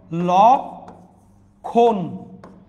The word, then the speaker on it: লক্ষণ: দেখেন এটা উচ্চারণ হবে কিরকম? ল খন। ম টা উচ্চারণ হচ্ছে না।